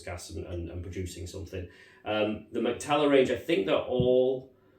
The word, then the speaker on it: Mac-Talla: So, I've gone for Mac-Talla. I assume that's how you pronounce it. It's Mac-Talla.